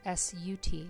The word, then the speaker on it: Sat: and exhaling out soft SAT is actually pronounced sut so it sounds like